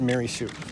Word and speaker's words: Marisu: as a child I always thought it was mirasu mirasu no it's maryu m a r i s pronounced marisu and that I found out from Joe my